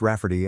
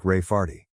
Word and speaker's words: Raferty: name my niece Raferty, pronounced Rafferty and not at all like Rayardy.